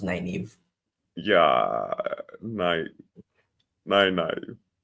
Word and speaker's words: Nynaeve: Nineveh. Name one. It's pronounced Nynaeve. Yeah, nine, nine. Nynaeve.